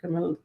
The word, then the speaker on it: Kamala: It just happens to rhyme with her name, Kamala.